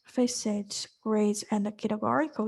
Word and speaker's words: facet: to pronounce that part which is facet not faet it's facet so facet grade by